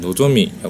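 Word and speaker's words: ノゾミ: 분들도 있을 거예요 그런데 제 지인의 이름은 보라고 쓰지만 이름은 노조미라 해요 어떠신가요 전혀 맞을 수가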